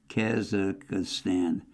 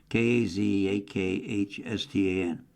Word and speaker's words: Kazakhstan: Soviet policies in Kaz Kaza I had trouble pronouncing it. Kazakhstan k a z a k h s t a n Kazakhstan In Armenia people felt abandoned by Russia rather than fearful of its encroachment.